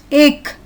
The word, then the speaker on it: ache: The CH syllable is pronounced as k, k. Ache, k.